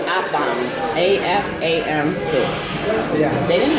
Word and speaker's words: Afam: Afram soup. Afram soup. Afram soup. How do you spell that? A-F-E-F. Okay, it's Afam.